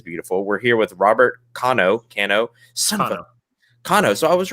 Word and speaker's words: Cano: us on this side of the world latin pronunciations that actually helped me andy kano yeah that's how i would say it kano or perfect are you japanese i am not